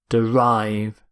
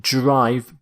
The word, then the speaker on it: derive: Derive. Note the pronunciation. Not drive, but derive.